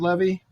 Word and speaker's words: Levy: Did I say it right? Levy? Is that it's correct? Funny. It's moved to that lately simply because of the wonderful, talented Dan Levy who's out there.